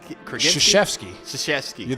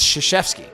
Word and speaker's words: Krzyzewski: There's no K my in it when you gosh. actually say his name. Oh my gosh, I was way off. I just know him as Coach K. You gotta write it out on the website because the way it's spelled is insane. But it's Krzyzewski, even though it starts with a K.